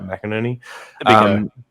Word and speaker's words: McInerney: mckinnon yeah that's how you say it right mcinerney the big oh yeah that's why everyone says